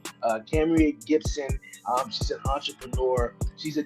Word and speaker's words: Kamerie: I'm pronouncing her name right. Kamerie Gibson.